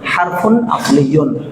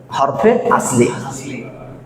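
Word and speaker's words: حرف أصلي: হরফে আস মূলত এটা যদি আরবি উচ্চারণ ভালোভাবে করি তাহলে হারফুন আসলিন হারফুন আসলিন আসলিন হারফুন আসলিন কিন্তু আমাদের একটু উর্দু ঘেসা করে হরফে আসলি আসলি মানে আসল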